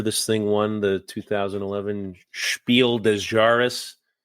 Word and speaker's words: Spiel des Jahres: No wonder this thing won the 2011 Spiel des Jahres. Yeah, did I pronounce that right? Perfect, spot on.